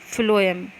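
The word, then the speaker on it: phloem: क्यों करते हैं, जाइलम फ्लोएम ऐसे याद रखा करो कि फ्लोएम मतलब क्या हुआ, एफ से इसको एफ मान लो, प्रोनाउंस करने में एफ आता, वैसे स्पेलिंग पीएच से होती।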